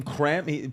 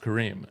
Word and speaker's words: Kareem: your actual name creme birth certificate name crem but but he was like it's pronounced Kareem and then I grew up and one day in and I was like these people are so dumb they don't know how to say kareim cuz I'm you